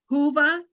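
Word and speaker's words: Whova: here we go folks hoover that's how it's pronounced hoova dot-com and there's an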